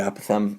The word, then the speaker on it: apothem: it whatever you want i call it apothem other people call it apathem i think they're right and i say it wrong i'm not sure but